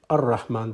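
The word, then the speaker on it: الرحمن: And secondly, when Rahman becomes Al-Rahman, you pronounce it Ar-Rahman. The L goes silent.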